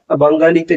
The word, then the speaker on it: বাঙালি: এখানে আমরা বাঙালিতে গ এর উচ্চারণ আমরা করি না, আমরা বাঙালি বলি, তাই আমরা লিখবো বাঙালি।